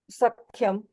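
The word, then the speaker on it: सख्यम्: स ख को, ख नॉट क, सख.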